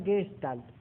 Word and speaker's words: Gestalt: Se pronuncia Gestalt, ¿sí?